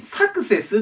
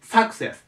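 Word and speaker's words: success: をするのでここにねアクセントが来るって間違いやすいんですサクセスてじゃなくてサクセスというねここに来るアクセントがねでここだけ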